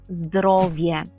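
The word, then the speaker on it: zdrowie: далі переходимо до слова здоров'я і польською це здоровє здоровє здоровє повторюємо здоровє наприклад онама добре здоров'є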